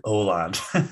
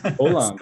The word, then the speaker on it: Åland: learned so much, but the little accent over the A makes it Åland. Åland. Okay. Yeah, yeah. I wasn't sure the pronunciation, you know. Yeah. Åland.